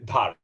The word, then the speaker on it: Dhar: The H is silent, right? I've never thought about that actually. It is Dhar. Yes, it's Dhar.